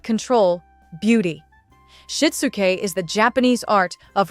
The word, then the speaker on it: Shitsuke: The first concept is called Shitsuke, pronounced Shitsuke.